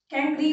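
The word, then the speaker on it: chancre: बोलते, कैंक्री बोलते हैं, स्पेलिंग है इसकी ऐसी है ना, जैसे चांस होता है ना, तो चांस के अंदर आर ई लगा दो, पीछे ई के बीच में क्या लगा दो, आर लगा दो, पर इसका प्रोनाउंसिएशन होता है कैंक्री।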